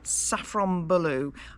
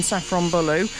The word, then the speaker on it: Safranbolu: Uh we left you having fixed our tire, and we've driven up to I'm going to pronounce it wrong, Safranbolu.